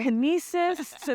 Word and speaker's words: Knossos: on the way here kesis like she was like just think of c c c you got to say the K you got to say the K not silent folks my name is